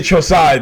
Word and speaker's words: Chozen: And I say Chosai because that's how you pronounce it. That's how Sato pronounced it. And ever since I noticed that Sato pronounced Chosen Chosai, I've always called him Chosai.